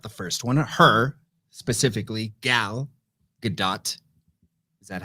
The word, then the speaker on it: Gal Gadot: we loved about the first one her specifically gal gadot is that how you pronounce it it is how you pronounce it